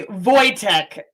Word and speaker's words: Voytek: Did I pronounce that right? Voytek? No, it's actually Voytek.